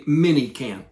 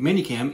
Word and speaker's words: ManyCam: that i showed you is going to be minicam now manycam m-a-n-y-c-a-m if you're not from the